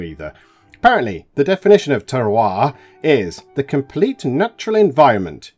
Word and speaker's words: terroir: r o i r which is pronounced Tara which is French and I had to look at what it means cuz I didn't have a clue either apparently the definition of Tera is the complete natural